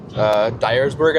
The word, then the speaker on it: Dyersburg: Dyersburg, I think is how you say it.